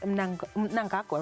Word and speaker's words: Mnangagwa: So in 2023, President Mnangagwa, right?